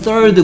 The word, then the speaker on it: third: 어, 그 위에 발음이 third 그죠? third 발음이 우리가 쓰지 않는 쌍시오 발음, 혀를 살짝 물고 내는 소리인 th 다음에 어드 이런 소리 나거든요.